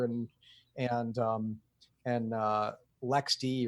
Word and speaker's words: LXD: and um and uh Lex D or lxd if you pronounce it the way I do uh this is what